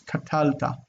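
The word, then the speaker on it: קָטַלְתָּ: This needs to be accented here. That's a mistake on my part. It's katalta. Katalta. That accent should be there.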